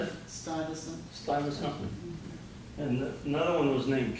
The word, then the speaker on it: Stuyvesant: Stuyvesant.